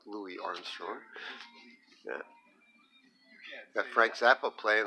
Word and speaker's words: Louis Armstrong: And there's we've got Louis Armstrong, pronounced Louis Armstrong, not Louis Armstrong.